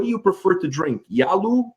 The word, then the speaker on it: Jallu: So one question is, what do you prefer to drink, Yalu or Kosu? I hope I'm pronouncing it right. Yeah, Jallu and Kossu.